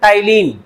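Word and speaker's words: ptyalin: एक और नाम है पी साइलेंट होता है टाइलिन क्या बोलते इसको टाइलिन टाइलिन से पूछेगा तो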